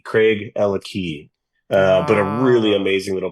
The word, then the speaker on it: Craigellachie: Yeah, a lot of people pronounce it Craigellachie. Yeah. But it's Craig and Ella have the key. Craig, Ella Key.